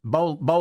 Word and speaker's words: Bollant: His name is Bollant. thanks for joining us. Bollant.